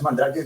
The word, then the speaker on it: Mandrake: es sel enano mandrake Supongo que hay que pronunciarlo en inglés a este no mandraque Ah Es mandraque mí lo conocemos en México mandr mandraque es